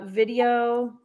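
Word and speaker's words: Vidyo: few different sections uh video dot AI but you spell it b-i-d-y-o um that's one that's the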